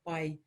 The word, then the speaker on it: pai: Where it gets tricky is when you have two vowels together. So the a and the I. So pai.